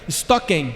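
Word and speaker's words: στοιχῶμεν: né instalar andemos é uma palavra grega que se pronuncia estoquem Esse é um termo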